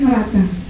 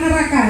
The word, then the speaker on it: neraca: rugi, perubahan ekuitas dan neraca. Ini bacanya neraca bukan neraka ya, tetap C. Kalau neraka beda lagi ya. Neraca, tetap neraca ini.